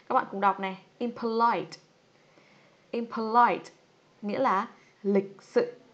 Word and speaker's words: impolite: Trọng âm rơi vào âm tiết thứ mấy các bạn ơi? Impolite. Ok, nó sẽ rơi vào âm tiết thứ 3, âm tiết cuối nhá.